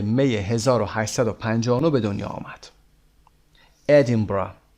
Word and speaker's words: Edinburgh: آرتور کانان دایل در ادینبورگ در 22 می 1859 به دنیا آمد. ادینبرا به این صورت تلفظ میشه. ادینبرا.